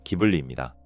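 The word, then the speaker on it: Ghibli: 바람계곡의 나오시카의 성공을 바탕으로 스튜디오 지브리를 설립했습니다. 지브리는 스타막의 바람이라는 뜻에 이탈리아어로 원래 발음은 기블리입니다.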